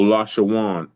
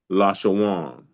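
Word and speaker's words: לָשׁוֹן: Could you pronounce that again, please? Which that? The last you said Lasha. Oh, Lashawan. LA. It's in the Strong's H3956. H3956, and it's called Lashawan.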